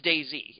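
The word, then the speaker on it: DayZ: that your voice I it is Day Z day Z sorry Day Z ha you said it right damn it Kitty you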